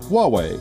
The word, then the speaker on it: Huawei: a bit Wow well be Bobby the correct pronunciation is Huawei this guess bourtzi guessed third guessed work see